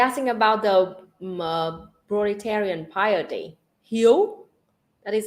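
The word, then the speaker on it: hiếu: Vietnamese pronunciation for that it's h-i-e-u it's like you you know your name you in English yo okay he shut up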